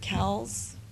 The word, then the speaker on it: Cowles: I am very excited that Darby Cowles, is it Cowles? Yeah, I keep trying to say her name wrong, It used to be Darby Gavigan.